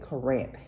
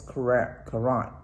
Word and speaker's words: Corinth: We went with the senior citizen group to what I call it Corinth, Mississippi, but I found out I had been saying it wrong. It's Corinth, Mississippi.